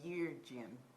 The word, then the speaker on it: Yeargin: So we got, Lindsay, Allen, Allen, Jurgen, Jordan, I Juden, can't pronounce it. what is it? Y-E-A-R. Jen. I just say Yeargin.